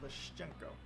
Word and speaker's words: Leshchenko: Public profiles of Leshchenko, that's how I should pronounce it, Leshchenko. Yeah, because there's a letter which has this sound, sh, Leshchenko.